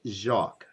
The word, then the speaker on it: Jacques: And Gracie also wanted me to mention that her dog name is called Jacques, like Jacques Cousteau. So I guess many people have been mispronouncing her dog's name. That is Jacques.